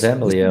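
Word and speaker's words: Kademlia: this is Cademelia or very cool. Cademelia. I don't even know how to pronounce that name. It's Cademlia, yeah.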